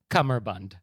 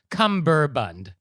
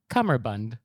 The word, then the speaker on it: cummerbund: necktie okay so first of all the correct pronunciation is cummerbund oh m e yes it's not cumberbund or cumberbun it's cummerbund oh wow stay with me okay so a